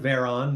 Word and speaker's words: Veron: name is uh Veron that's uh yeah you pronounce it like holy crap there's a bear on the hood of my car but with a v um and yeah I